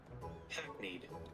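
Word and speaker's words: hackneyed: What was the pronunciation? Hackne. Hackne. See, I had it right the first time.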